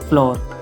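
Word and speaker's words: floor: 30 number को हम पढ़ेंगे फ्लोर या फ्लो, दोनों पढ़ेंगे फ्लो, मतलब आर साइलेंट भी रहता है, थोड़ा सा टचिंग में रहता है। फ्लोर, फ्लोर या फ्लो दोनों पढ़ सकते हैं, मतलब इसका मतलब होता है फर्श, फर्श।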